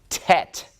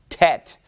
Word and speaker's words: Tet: All right, the 9th letter rhymes with Chet, and it looks like that, and it is Tet, Tet. And Tet makes a T sound. And it has a numeric value of 9. It is the 9th letter of the Hebrew alphabet. I just remember that it follows Chet, so it goes Chet, Tet, Chet, Tet. And they rhyme with one another, so that makes it